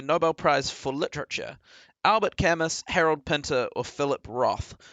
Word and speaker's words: Camus: I'm gonna tell you it's camu as well I'm gonna give you a look kamu that's Albert Camus how you pronounce it right that's right yeah